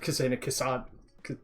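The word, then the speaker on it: Kasane: Kusane? Not Kusane, Kusane, yeah, that's how you say it.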